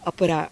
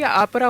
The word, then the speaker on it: अपरा: इट्स a Sanskrit name so यह भी मुझे बहुत सबको बताना पड़ता है अपरा अपरा पूरा है लोगों को प्रोनाउंस करने में तकलीफ हो अमेरिकन एक्सेंट देखि आपरा हुआ हां या और आपने